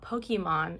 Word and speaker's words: Pokémon: Okay, I finally finished two of my Pokemon characters. My son told me, "Mom, it's not Pokemon. It's Pokemon." So, I'm trying to say it correctly.